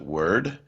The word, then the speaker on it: WURD: 96.1 FM go to the App Store and again look for wurd we pronounce it word and you can find